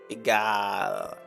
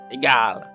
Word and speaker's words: Egal: Ah is in Germany A. Ah. Egal. Egal. Really? So you have to like stretch out your A like that?